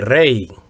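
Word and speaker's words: rey: is it Antonio no the Spanish word for King would be Ray so here we see a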